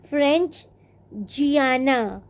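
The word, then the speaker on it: French Guiana: एक फ्रेंच जियाना, फ्रेंच गुयाना, जियाना उसका original pronunciation है, तुम लोग स्पेलिंग के लिए फ्रेंच गुयाना, फ्रेंच गुयाना, neighbouring countries of Brazil to the north, फ्रेंच गुयाना।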